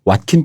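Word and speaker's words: Joaquin: 만드는게 제일 시작하는 그대로 스페인에서 제이는 h 발음이 나기 때문에 꼭 막히니 맞는것 같은 해 근데 뭐 이름은 지은 사람이 자기 부르는게 맞으니까 와 킨 이라고 한다 고 답이 되어있더라구요 에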